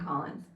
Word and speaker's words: Collins: It's COLLINS, and I say it like an A.